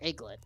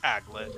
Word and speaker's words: aglet: setup for aglet me I never knew how to pronounce it I part of me wondered if it was add glitter or egglet it's aglet at the very least